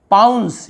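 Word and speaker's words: pounce: पाउंस, यहाँ पे सीई को आप देख रहे हैं सीई लिखा हुआ है, इसे हम सीई का स उच्चारण होता है।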